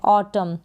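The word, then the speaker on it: autumn: ए यू को ओ, टी यू को ट और एम को म, और लास्ट में एन यहाँ पर साइलेंट है। ऑटम, क्या है? ऑटम।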